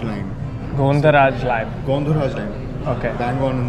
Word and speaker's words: Gondharaj: lime peel from an Indian lime known as Gondharaj lime. Gondharaj lime. Gondharaj lime. Okay. Bang on in the pronunciation.